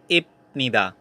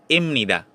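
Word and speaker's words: 입니다: is pronunciation is hamnida next we have ipnida you pronounce it as imnida okay some example spa the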